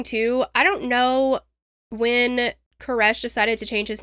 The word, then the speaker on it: Koresh: And his answer was, you know that last breath that somebody takes right before they die? That's how you say it. Koresh.